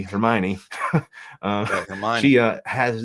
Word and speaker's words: Hermione: um one girl who I always pronounce her name Heron until I saw the movie Hermione um her she uh